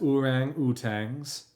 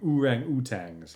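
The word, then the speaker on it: ourang-outangs: the contrast is inimitable I'm wondering now just the way that it's spelled if it's supposed to be orangutans because it's o-u-r-a-n-g Dash o-u-t-a-n-g-s like it feels like he's making it fancy and foreign sounding urang utangs instead of just orangutans I don't know I'm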